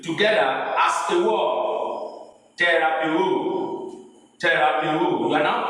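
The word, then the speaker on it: θεραπεύω: Terapeu, Terapiwo. You are now pronouncing the whole syllable together as a word.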